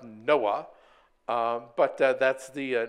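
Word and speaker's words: NOAA: uh Association Administration um curiously pronounced Noah um but that's the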